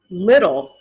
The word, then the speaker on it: little: do you hear that the t makes the d sound little little look at how little this dog is look at how little this dog is she's a little girl she's a little girl so the two t's in the middle of the word little turn into d's makes a d sound little little the same